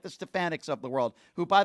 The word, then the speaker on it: Stefanik: The same types of people like the Stefaniks of the world, who, by the way, Donald Trump called Stepanik, doesn't even know how to pronounce her name.